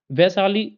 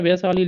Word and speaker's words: वैशाली: तो का उच्चारण से वैशाली लिखा तो ऐसे जाता है देखिए वैशाली देखो लिखा तो य लेकिन लोग पढ़ रहे वशाली लेकिन ये है वैशाली ऐ की मात्रा लोग